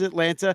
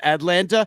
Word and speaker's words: Atlanta: the proper pronunciation of the word Atlanta, and that Boog has too much of a T in his Atlanta instead of Atlanta, and that would be a main topic of conversation throughout the entire fucking game?